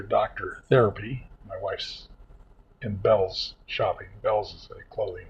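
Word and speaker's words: Bealls: My wife's in Bell's shopping. Bells is a clothing store. Spelled B A L LS. And don't pronounce it be because they get mad at you. Bells like southern bell.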